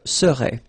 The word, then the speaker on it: serais: Remember, so AIS, but then you don't pronounce the final S. Je serais.